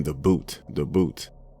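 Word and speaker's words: bhoot: everyone pointing towards something everyone kept saying the boot the boot it's spelled b-h-o-o-t it's some kind of demon that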